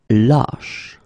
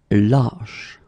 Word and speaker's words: lâche: Same thing here, when you get this circumflex, lâche. Okay, so this a is actually lower or deeper than the previous we had, okay? Ba, lâche.